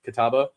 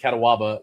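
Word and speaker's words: Catawba: When I when I first moved to Charlotte, there's a there's a uh there's a river called Kataba. Uh c a t- wab a kitaba. Well, I pronounced it katawaba.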